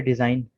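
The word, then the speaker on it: design: ठीक है, इसके बाद है डिज़ाइन। डिज़ाइन ही को कहते हैं उर्दू में, ये बहुत इस्तेमाल होता है। जी साइलेंट है।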